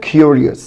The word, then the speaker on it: curious: اول كلمه معانا حبايبي هي كلمه فضولي، محب الاستطلاع، اللي هي curious. curious يبقى اليو هنا بتنطق فول يو، كيو curious curious. تاني كلمه street.